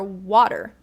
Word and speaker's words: water: So it's interesting that you do the flap T for little, same as American English, but not for water. We do it for water, and it sounds like a D.